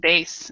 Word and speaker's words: bass: yes Julio you have another one base and bass as well uh base um the base on